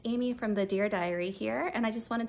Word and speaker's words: Dyery: Amy from the dear diary here and I just wanted to welcome you to this YouTube account so diary in this context is spelled d-y-e-r-y and I named it